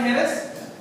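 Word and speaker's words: Jerez: it's called हेरस इट it's written as जे ई आर ई जड बट in Spain it's called हेरेस because anything in Spain with J they called इ दस सो Spanish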